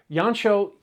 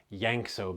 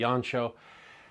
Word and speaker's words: Jancsó: films from the 1960s yanchow sometimes you'll hear his name pronounced yankso because of the spelling the hungarian pronunciation would be yancho yancho had a long